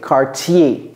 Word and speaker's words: Cartier: say CER otherwise you will just hear cardier cardier cardier okay I was going to say Cartier okay yeah CTI Cartier cuz this is e in in French yeah